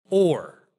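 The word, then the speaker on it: אור: word for light is or but with the other letter one of them is ayan rash and the other one is Allah fresh but they're pronounced very similarly and so there's kind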